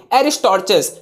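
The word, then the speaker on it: Aristarchus: एरिस्टॉर्चस, जिन्होंने first heliocentric model को मतलब लाया था, यानी पेश किया था। तो एरिस्टॉर्चस, not Aristotle, एरिस्टॉर्चस spelling is here.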